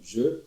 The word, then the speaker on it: je: Você pronuncia je. Je. Je. Não é Jo de Jô Soares, 11h30, não é nada disso. Nem Gé aberto. Entre o aberto e o fechado.